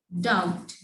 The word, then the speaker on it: doubt: B is silent before T in some words like doubt. Doubt.